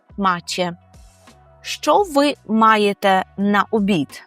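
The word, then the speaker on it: macie: звертаємося до групи людей скажемо маче маче акуратно з вимовою че маче що ви маєте на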